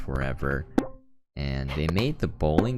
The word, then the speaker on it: ForeVR: at forever darts uh it's spelled for vr but it's pronounced forever and they made the